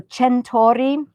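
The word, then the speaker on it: Centorri: With the CE, it's pronounced Ch. So Centori, and it's Moscato di Pavia, Pavia.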